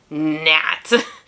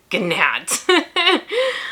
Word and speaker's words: gnat: it was oh it was uh nat and of course it's spelled with a g at the front so it was like nat gnat um it was really